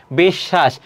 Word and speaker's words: বিশ্ব: বিশ্ব এটি বানান এর উচ্চারণটা কি হবে? বেশ। তারপর হবে কি? স এটি হবে।